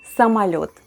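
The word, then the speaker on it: самолёт: somalia just like before when letter o is unstressed it's pronounced as a somalot which means airplane in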